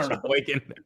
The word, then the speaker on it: Sheboygan: Say Sheboygan.